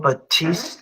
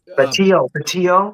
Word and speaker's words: Batio: One of them, you know, um, guitar player, um, Michael Angelo Batist. Did I say it right? Batio. Batio.